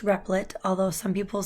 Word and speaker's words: Repl.it: this site is repl dot I T it's pronounced repli'd although some people say rep I T which sounds weird and basically what this does